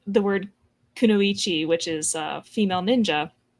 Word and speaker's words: Kunoichi: And like the word Kunoichi which is a female ninja. More than one person has pronounced it as Konoyi.